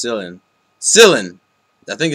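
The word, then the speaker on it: Cilan: S someone tried to correct me in the pronunciation it's not San it's sillin sillin I think it's just pronounced sillin sillin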